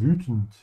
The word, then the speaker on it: wütend: Make sure to stretch your tongue forward. Say ü. Why are you so angry? Warum bist du so wütend?